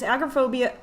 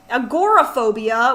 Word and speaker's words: agoraphobia: they claim CFS seizures agrophobia agoraphobia which I have been pronouncing wrong for like a year now alongside did this whole